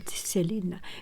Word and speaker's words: Selene: It pronounced as Selena.